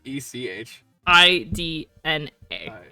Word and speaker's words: Echidna: In Echidna. One more time. ECH. ECH. No, E, just one E. Yeah, ECH. IDNA.